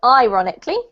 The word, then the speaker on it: ironically: even even even good this one is i not e but ironically ironically yeah and last one cherished